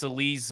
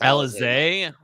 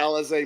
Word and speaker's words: Alizé: I think it's Alizé. At least that's how I'm pronouncing it, because that's you're pronouncing it out now. Elise, you're pronouncing it Alizé.